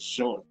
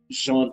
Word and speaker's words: Jean: harsh on jean pascal i believe the pronunciation is sean sean pascal i feel like um